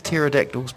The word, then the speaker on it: pterodactyl's: What does the pterodactyl's P sound like? Nothing. The P is silent.